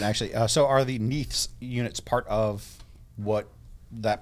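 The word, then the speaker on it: Neith: so AGM gave us three needs neaths I believe that's how they pronounce it in e-i-t-h and then plural yes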